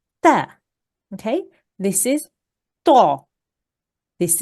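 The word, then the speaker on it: ت: Okay, as opposed to this sound, which is a soft, smiley sound. You make a smile with your mouth and you say ta, ta.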